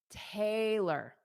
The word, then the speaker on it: Taylor: So the L in her name is unstressed. We know that because this dash, this dash in front of the T tells you to stress that sound. So you know that Tay is stressed Tay. But then because L O R is unstressed you see in